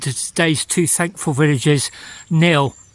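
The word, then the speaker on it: Knill: today's two thankful Villages Neil I hope that's open actually it's spelled k-n-i-l and this afternoon has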